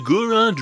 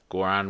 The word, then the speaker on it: Goron: Goron rhymes with moron.